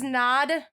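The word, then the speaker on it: Knod: This is Nod. It's spelt like Todd, but with KN.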